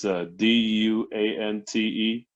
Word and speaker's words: Duante: It's spelled all fucked up though. It's Duante. So I get everything from Duante to Duante. I even get Dwayne every once in a while, like the T silent and shit.